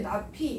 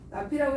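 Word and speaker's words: ~p: 앞에다 이렇게 이거 읽을 때 나피 이렇게 읽으면 돼요. 나피라고 읽어주면 되고요.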